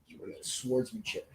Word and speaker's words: swordsmanship: you know swordsmanship and why i keep pronouncing the w is beyond me swordsmanship so yeah i've done that like three times so i know i'm catching myself so you look at